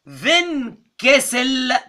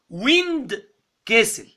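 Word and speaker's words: Windkessel: على فكرة الإلاستيك ريكويل ليها اسم، اسمها فينكسل فانكشن. اوعى تنطقها غلط وتقولي ويند كسل، لا، ويند تقولي رياح وكسل مش عارف يعني ايه، لا، فينكسل دي كلمة ألماني معناها إلاستيك ريكويل، فادتني وقت السيستول ووقت الدايستول.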